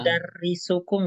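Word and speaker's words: مدرسكم: ya, Aina Nah, madrasa, ini bacanya madro, mudarrisukum ya, bacanya.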